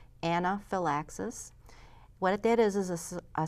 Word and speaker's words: anaphylaxis: serious allergic reaction and it's called Anna Phil axis I sorta phonetically spelled it for you there anaphylaxis what it is is